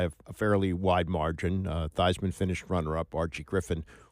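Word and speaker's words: Theismann: think by just simply changing the pronunciation of your last name from Thesisman to Thyman to rhyme with Heisman, we can get you that trophy.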